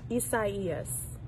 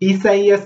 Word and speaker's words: Isaias: the hurricane that was downgraded to tropical storm isaias hurricane isis all great pronunciation of isaiah's but remember they did have